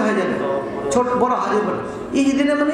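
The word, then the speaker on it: اهدنا: তাইলে আবার উল্টা হয়ে যাবে ছোট বড় হাদি ইহদিনা মানে হে আল্লাহ তুমি হিজাব দান করো আর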